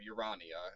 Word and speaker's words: Urania: And then Urania, or Urania, if we want to pronounce it that way, is astronomy.